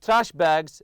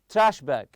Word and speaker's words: trash bag: throw a couple of trash bags and your backpack for dirty laundry so we have here trash bag trash bag you put the stress on the first part also backpack backpack always